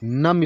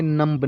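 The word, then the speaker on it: numb: जब एम के बाद बी आए तो बी हमेशा साइलेंट रहता। कहीं भी लिखा हो एम और उसके बाद बी आए तो आपको ये ध्यान रखना है बी साइलेंट रहता है। जैसे NUM, बी, नम, इसको पढ़ेंगे नम्ब नहीं पढ़ेंगे।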